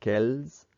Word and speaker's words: quelles: Note that quel has the same pronunciation every time, except in the very last one. The reason why it's pronounced quelles is because the next word begins with a vowel sound.